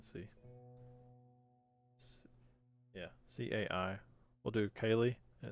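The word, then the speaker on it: Caileigh: We'll do Kaylee, and it's spelled this way.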